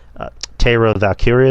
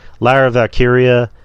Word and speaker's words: Lyra Valkyria: because they had a nice little segment with her, and was it Tara Valkyria? Is that her name? Lyra Valkyria? Lyra. Jesus Christ, I got her name wrong. Lyra Valkyria.